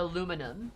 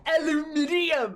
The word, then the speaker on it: aluminium: just wrong on every level really is the aluminum it's aluminum no no aluminium where are you putting the syllables it's a lu it's aluminum aluminum no